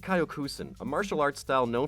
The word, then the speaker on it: Kyokushin: and world champion in Kyokushin Karate (pronounced Kyo-Koo-Shin), a martial arts style known for its body shots.